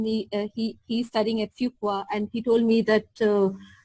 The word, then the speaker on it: Fuqua: knowing how to cut how to pronounce the name to be schooled properly like not saying Fuqua but fuqua okay and also like